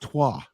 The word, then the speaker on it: Troyes: And Biancone from Troy is also very, very tidy.